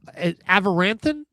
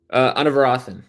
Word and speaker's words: Anavarathan: And of course, Avaranthan, is that the correct pronunciation of the last name? Anavarathan. Yeah, close. Anavarathan.